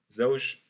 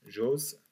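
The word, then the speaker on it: زوج: Zaouj, en dialectal, on la prononce Joz, Joz.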